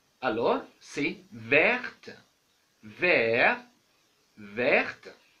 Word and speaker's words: verte: L'adjectif vert, au féminin on ajoute e, alors c'est verte, vert. Verte, on a changé l'écriture et la prononciation aussi.